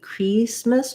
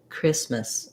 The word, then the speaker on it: Christmas: don't want the same you don't want merry christmas but rather christmas american english and then even though we have an a here in the um end part of christmas we have more of an uh sound or you might even think about it as having pretty much no vowel going from your um to your s miss you can think